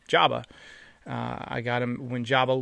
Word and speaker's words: Joba: another cat named Joba I named him Jo Bob before I realized that Joba Chamberlin pronounced his name Jabba I got him when